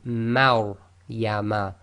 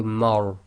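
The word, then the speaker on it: مريم: So this will be Maur Yama. And remember, the Ma must remain light. Don't go Mar. It's Maur.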